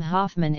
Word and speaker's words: Hoffmann: In central Germany, the O in the proper name Hoffmann is pronounced long, whereas most other Germans would pronounce it short.